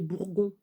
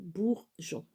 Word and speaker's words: bourgeon: Parce que sinon, ça ferait bourgon. Si on ne met pas le E, ça fait bourgon. donc bourgeon.